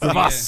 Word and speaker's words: Graves: Yeah, you saying it wrong. Yeah, it's Gravas. In French.